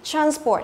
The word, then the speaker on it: transport: Transport, nếu là danh từ thì mình đọc là transport. Tức là chọn âm thứ nhất.